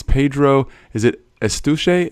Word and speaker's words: Eustache: Is it Eustache? How do you say it? Yeah, Eustache, because it's like mustache with an E at the beginning. Eustache.